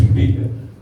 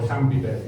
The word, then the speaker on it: Schumpeter: I pronounce it Schumpeter. Joseph allows Schumpeter, or Schumpeter if you want to put it.